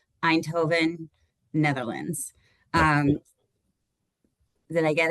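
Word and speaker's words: Eindhoven: And um I should have confirmed how to pronounce this with David ahead of time. I always say it wrong. Einhovven, Netherlands.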